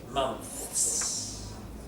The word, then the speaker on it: months: Can you hear how that's two syllables? It's one syllable and it's hard to say. Month. Month. So, you stick your tongue out and then you go. Now, you pull it back in and say a with your teeth together.